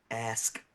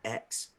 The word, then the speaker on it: ask: Tell him the word is pronounced ask, not X.